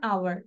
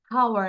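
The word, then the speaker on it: hour: খেয়াল করো, এই যে উচ্চারণ হচ্ছে না আওয়ার, তাহলে অ্যান আওয়ার। অ্যান আওয়ার আমরা কিন্তু বলি না যে হাওয়ার। হাওয়ার বলি? নো।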